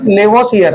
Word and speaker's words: Lavoisier: एंटोइनो लेवोसियर ने। एंटोइनो लेवोसियर, LAVO, इसकी spelling देखनी पड़ेगी, LAVOISIER, है ना।